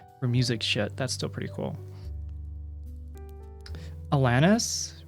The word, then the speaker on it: Alanis: that's still pretty cool Alanis with Lan being pronounced like LAN party Alanis still pronouncing the